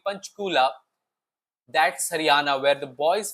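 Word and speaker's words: Panchkula: So he mentions that because they were going to take me back to Panchchula, he says broadening his eyes and the second syllable until it became punchula.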